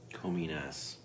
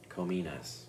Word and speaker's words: Kominas: Cominas. Cominas. The systems are down. I could be pronouncing that incorrectly, but that's the way I believe it's pronounced.